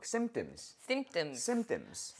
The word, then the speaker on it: symptoms: 오케이, 그래서 우리가 symptom보다는 우리가 symptoms. There you go. 그래서 P를 묵음화 시켜야 되고 이 단어 너무 어려운